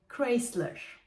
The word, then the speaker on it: Chrysler: biz buna kısmı ölüyoruz ama aslında bunun doğruyoruz Chrysler yine En azından biraz benzetmiş iz sıradaki marka